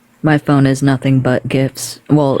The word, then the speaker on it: GIF: phone is nothing but gifts well it's supposed to be pronounced JF accordingly no I was just